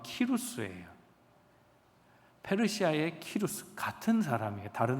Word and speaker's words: 키루스: 고레스를 원래 발음으로 하면 키루스예요.